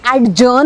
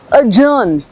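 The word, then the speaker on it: adjourn: इट्स अ जर्न। Okay? ड की बिल्कुल भी आवाज नहीं आएगी। अजर्न और इसी तरह से अजर्नमेंट इट्स नॉट एडज्जर्नमेंट या एड्जर्न अजर्न अजर्नमेंट डी है मगर नहीं है।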